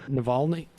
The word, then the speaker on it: Navalny: it did i say it just right then navalny yep i think that's right oh okay also